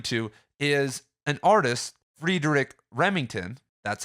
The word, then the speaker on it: Remington: what he's referring to is an artist Frederick Remington that's how you say his name who who's